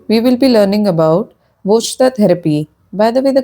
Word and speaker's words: Vojta: In this video, we will be learning about voter therapy. By the way, the correct pronunciation is Vita therapy.